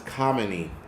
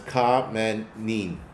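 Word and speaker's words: Khamenei: It's not coin. is kamine cuz I just got the um pronunciation a couple minutes ago but it's K manin but anyway enough of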